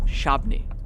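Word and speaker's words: Shabbona: Raphael Wasuk drives through Chief Shabana Forest Preserve in Northern Illinois. He's a member of the prairie band Padawatami tribal council and a direct descendant of the chief whose name the prairie band pronounces Shabni.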